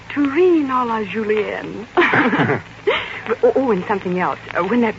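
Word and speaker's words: Terrine à la Julienne: Except your pronunciation of Terrine a la Julienne. It's a little bad yet. Yes, I know. Terrine a la Julienne. Terrine a la Julienne.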